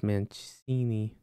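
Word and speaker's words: Mainoo: no that's not even Smalling the M that's manini that's how you say his name so I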